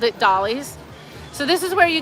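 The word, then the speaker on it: Dolle's: Now, it looks like it's Dole, but it is pronounced Dolly's. I've checked the website, and we've always called it Dolly's.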